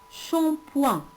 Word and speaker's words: shampoing: Ici, le son ch s'écrit aussi avec S, SH. SH, ça se lit ch. Ch avec un, champ, shampoing. Et le G ne se prononce pas.